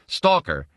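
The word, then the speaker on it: сталкер: into the Russian language stalker pronounced stalker in Russian is one of the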